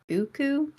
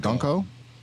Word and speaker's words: Gunko: Is it Guku? The new girl? Was it Gunko?